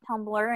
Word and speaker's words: Tumblr: And it doesn't look like it's a word, but it's pronounced Tumblr.